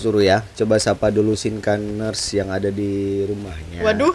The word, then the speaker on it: Sinkaners: Sinkan gimana ya ini bacanya? Sinkanesia. Sinkaners.